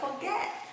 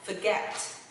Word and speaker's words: forget: Nhưng mà nó không phải là forget. Mọi người để ý cho Thủy ha. Nó sẽ là âm và nó sẽ là forget. Forget, forget. Oh my god, I forget, I forget, forget. Nhấn âm H ai mọi người nha.